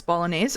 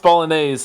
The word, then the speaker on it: Bolognese: It's Bolognese.